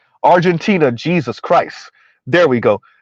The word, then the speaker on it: Argentina: go to war with argentinia argentinia Argent Z could you pronounce it correctly Argentina Jesus Christ there we